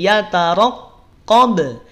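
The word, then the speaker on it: يَتَرَقَّبُ: Yataraqqab. Yataro. Pelafalannya perhatikan. Cara melafadzkannya. Yataraqqab. Yataro. Lihat, tidak yataraqqab. Tapi yataraqqab. Ra-nya tebal. Ya, ra-nya tebal.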